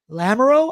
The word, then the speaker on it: Lamoureux: Same with rookie Maverick Lamoureux, I believe is how you say his name.